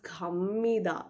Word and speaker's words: 갑니다: Even though you're writing 갑니다, you would read it as 갑니다. So it's literally becoming m pronunciation, mother m, that kind of m pronunciation.